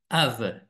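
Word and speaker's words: אב: le signe de de le père en hébreu ça se dit AV et ça s'écrit al bête c'est d'une certaine manière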